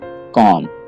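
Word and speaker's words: comb: यहाँ पे आपने बी को नहीं पढ़ना है, आप समझिए कि यहाँ पे बी है ही नहीं, तो इस वर्ड को आप सही तरीके से पढ़ पाएंगे। तो इसकी सही प्रोनाउंसिएशन है कॉम।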